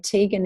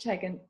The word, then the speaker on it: Tegan: So Tegan is Tegan. Tegan, it's actually Welsh. So if someone says Tegan, I'm in trouble. It's like, oops, but that's the correct way to say it.